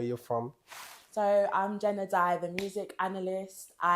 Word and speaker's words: Adae: We got Jen Adae in Come the on. house. Thank Come you. Come on. What do you say? Is it, did we pronounce it right? Adae. Adae. Yeah.